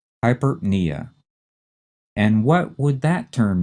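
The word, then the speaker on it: hyperpnea: and then we have hypernia again like the previous two the first two syllables are run together fast the stress is on the knee hypernia and what would that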